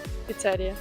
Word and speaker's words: піцерія: Піцерія чи піцерія? Піцерія.